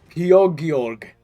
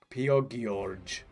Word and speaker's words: Piogeorg: g in the middle pio george george piogeorge is that is that the name of your uh oh wait both hard g's piogeorg piogeorg my name is piogeorg and